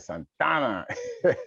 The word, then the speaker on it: Santa Ana: santa ana okay yeah you gotta say it right son donna right so um and